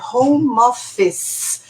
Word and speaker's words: home office: Aí você aprende que, por exemplo, não é home office, é home office. O E no final não é falado.